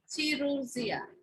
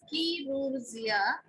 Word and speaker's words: chirurgia: So here ch should pronounce K in Latin, and in Greek that is ch, chirurgia.